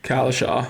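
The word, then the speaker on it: Cowlishaw: Is it Tom Collishaw? Is that how you say it? Collishaw.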